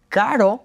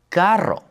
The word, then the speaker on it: carro: So, instead of saying carro, we would say carro. Many people struggle with their r's, but all you need to do is touch that little bump at the top of your mouth.